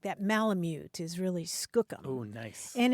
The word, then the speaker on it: skookum: using an unfamiliar word and that word was Skookum oh nice s k o o k u